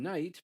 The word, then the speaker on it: knight: be a knecht, and that's why there's a K and a GH in knight, but we don't pronounce them because the language has changed.